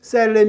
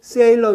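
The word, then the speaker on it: Salem: 온 오리건 주에 수도는 셀렘 이 아니고 세일러 입니다 3 1 억 3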